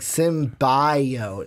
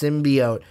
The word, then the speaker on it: symbiote: Voice coach, someone that can teach you how to pronounce it properly. Symbiote. Symbiote. It just sounds so weird, like symbiote. It's like no, it's symbiote.